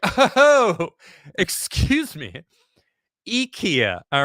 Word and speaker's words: IKEA: of Ikea Ikea actually it's not pronounced Ikea it's Ikea just to let everyone know a little little Swedish uh Insight it's here all right